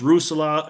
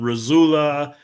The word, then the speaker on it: Russula: I've heard it pronounced Russula and Razula and Russula, Rochella. I heard a guy call it Rochella. I say Russula. However you want to is just fine.